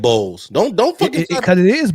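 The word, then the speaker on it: Murray-Boyles: Yes, it's Boyles. Like some eggs.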